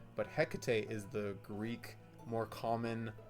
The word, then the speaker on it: Hecate: card and apparently this is more uh so Hecate is the Shakespearean pronunciation, but Hecate is the Greek more common uh pronunciation in American and British uh British uh speech basically. So, Hecate is the way to say it, not Hecate,